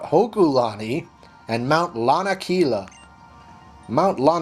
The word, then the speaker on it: Hokulani: Ulla our mount hokulani i mispronounced that in the last episode I called it a Kalani its mount hokulani and mount Lanakila mount